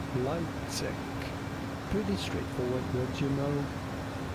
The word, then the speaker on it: Leipzig: In German, it is pronounced Leipzig. Leipzig.